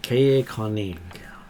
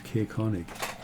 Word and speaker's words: Caerkonig: Caerkonig. Spell it for me? Caer-Konig. Konig. Caerkonig. Okay. Wherever you'd like to say it. And Konig is spells German king. it's the castle of the king.